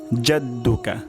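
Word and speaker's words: جَدُّكَ: ওয়াতা আলা ওয়াতা আলা জাদ্দুকা জাদ্দুকা জাদ্দুকা বললে ভুল হবে জাদ্দুকা ভুল উচ্চারণ জাদ্দুকা যা জাদ্দুকা জাদ্দুকা জা যা জাদ্দুকা ওয়াতালা জাদ্দুকা তাহলে ওয়াতালা এখানে আইন হবে জাদ্দুকা এখানে জিম হবে তাহলে আমি আবার রিপিট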